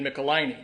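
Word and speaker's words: Michelinie: now by legendary writer David molini which by the way that's how you pronounce that name I I was I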